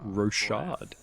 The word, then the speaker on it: Rochard: I've been pronouncing the game wrong it's actually pronounced rosad so that's a good good one to learn